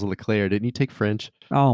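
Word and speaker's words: Leclerc: at max verstappen and charles what clerk is that how you say his name verstappen will grace the cover of f1 okay charles charles leclair didn't you take french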